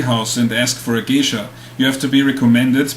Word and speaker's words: geisha: First of all, it's pronounced geisha, meaning something like person of the arts.